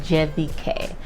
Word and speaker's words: CVK: is helpful so cvk as it's written in the english language is actually pronounced jvk their concierge was amazing